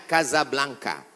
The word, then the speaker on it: Casablanca: kuliah nama negaranya Maroko ibukotanya tulisannya Casablanca cara bacanya Kasablanka Kaza artinya rumah Blanca